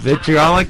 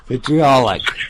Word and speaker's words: Vitriolic: Right, Jim? Vitriolic? Yeah, you got it right, Butch. Vitriolic.